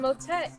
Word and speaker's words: motet: rhymes with discordance and motet is one letter away from hotel like Motel 6 which definitely brings to